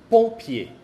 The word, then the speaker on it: pompier: Otro ejemplo, pompier. Pompier. Ya ven, después de la combinación es una P. Entonces se escribe M.